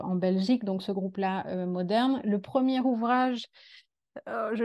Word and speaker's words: MDRN: a un groupe qui s'appelle moderne alors ça s'écrit juste avec les consonnes mdrn en Belgique qui travaille